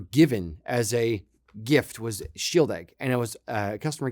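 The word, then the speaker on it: Shieldaig: So shield egg, was it 10 or 12? I forget which. Shield, SHIELD-AIG is how you spell it.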